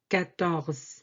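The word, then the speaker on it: quatorze: 14 is 14. 14. 14. This U after Q doesn't affect the pronunciation.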